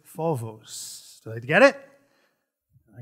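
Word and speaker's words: φόβος: problem with their pronunciation it is not phobos it is vovos did i get it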